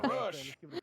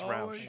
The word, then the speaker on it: Roush: No, it's Roush. I heard Rush. No, it's Roush.